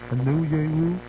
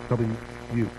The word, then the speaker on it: Onyewu: First name Oguchi, last name Onyewu. I think it's how you pronounce it. Onyewu.